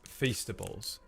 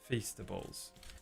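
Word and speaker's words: Feastables: Beast Fastables. It rhymes with beast kind of.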